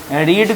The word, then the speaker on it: read: और याद कीजिए, रीड का मतलब होता है पढ़ना, इसका थर्ड फॉर्म लेकिन स्पेलिंग सेम होता है READ, लेकिन पढ़ते क्या हैं? रेड पढ़ते हैं, ठीक है ना।